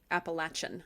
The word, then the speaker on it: Appalachian: And my grandmother, always would say it like Appalachian. So you have to got that ch.